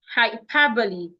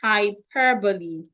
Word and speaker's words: hyperbole: Hyperbole. Let me spell the word out. The word is pronounced hyperbole, not hyperbole.